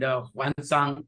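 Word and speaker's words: Xuanzang: knowledge and people like, Fa Xian and Xuanzhuang, pronounced as Fa Hian and Huanzang in our history books.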